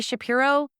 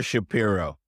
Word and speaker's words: Shapiro: number everything spell your Shapiro s h a p i r oh please it's spelled just like it sounds y'all yep the normal way and Stage search Partners